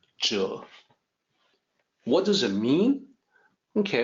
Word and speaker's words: 者: actual Mandarin pronunciation is Jill not exactly like Z but Z is the closest we got Jill what does it mean